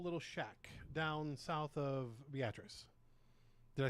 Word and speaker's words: Beatrice: picked a small little shack down south of Beatrice.